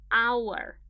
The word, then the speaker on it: hour: problem here for example our starts with H it is not a vowel not at all but pay attention to the pronunciation on our ah the first sound that you hear is a vowel and this is what matters this is what's important our ah so then